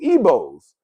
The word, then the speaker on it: Igbo: of the members of the Igbo, Ebos, pronounced Ebo tribe, right?